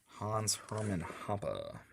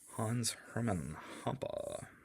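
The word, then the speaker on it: Hans-Hermann Hoppe: He gave me a pronunciation guide. Hans Hermann Hoppe. Hans Hermann Hoppe.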